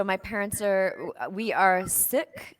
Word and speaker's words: Sikh: I'm having on because here we would pronounce like you know the Western world pronounce it seek but it's actually sick not like you're sick